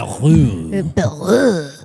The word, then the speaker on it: Bayrou: And I was like, Bayrou.